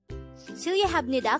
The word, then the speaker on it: 실례합니다: 실례합니다 could be divided into 5 syllables. The first 2 syllables are 실예.